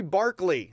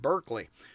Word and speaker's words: Berkeley: god's imagination is existence this is very barkley that's the town i'm in right now except it's mispronounced berkeley by the folks around hers so basically um barkley